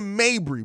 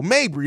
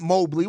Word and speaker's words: Mabrey: Now, as far as Marina Mabrey, bro, Mabrey, not Mobley.